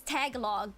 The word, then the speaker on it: Tagalog: That's a joke on how some foreigner people pronounce tagalog as tagalog. Yeah, it's tagalog.